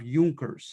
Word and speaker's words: Junker: in popular opinion uh by the upper house of junckers it's spelt like junkers j-u-n-k-e-r-s and the euchre class were